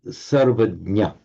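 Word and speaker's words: सर्वज्ञ: And should we take the word for omniscient, all-knowing, in Sanskrit will be sarvajna. Note with a short ah there.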